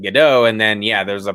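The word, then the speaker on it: Gadot: I've I've always started I've stopped pronouncing it with the T and and just went with gdau and then yeah there's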